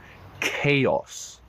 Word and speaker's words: chaos: case not in this case in this case chaos like a c c chaos chaos which means